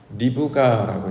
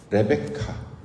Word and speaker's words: 리브가: 리브가라고 이제 히브리어 발음은 그렇게 하고 보통 영어로는 레베카 뮤지컬 제목에 레베카 있잖아 그 리브가 이야기입니다.